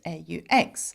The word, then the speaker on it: aux: Though you don't pronounce it, not that it matters when you say it out loud, I suppose, whether you know it has an X or not, okay?